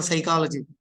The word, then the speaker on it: psychology: becomes silent for example for psychology p is silent is it for psychology